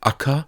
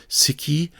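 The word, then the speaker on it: 赤: This has the pronunciation Aka, Siki, or Shaku, and the meaning red.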